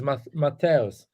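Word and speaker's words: Matthäus: So yeah, you're saying it wrong though. It's Matthaus.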